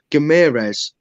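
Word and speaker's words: Guimarães: His name's Gamirez, then it's Gimares, and now it's Omelette du Fromage because it's Gamirez. It's like, what? Just say his name how it's pronounced.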